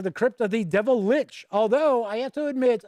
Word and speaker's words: lich: We invite you into the Crypt of the Devil Lich. Although, I have to admit, I had heard someone tell me that in German, it's actually pronounced Lich. And that's how it's really supposed to be pronounced.